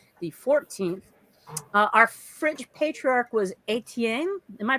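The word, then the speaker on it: Étienne: Our French patriarch was Etienne. Am I pronouncing that correctly? Etienne, yeah.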